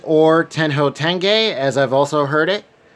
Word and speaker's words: Tenjho Tenge: So last up, now I might be saying the last part wrong because I've heard it pronounced a couple different ways. So we have Tenjho Tenge or Tenjho Tenge, as I've also heard it, the complete collection.